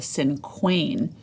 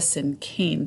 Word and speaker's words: cinquain: sim cane it looks like it would be pronounced way different I always think I always thought it was called a sin Queen but it's actually called a sin cane poem so this kind of poem is super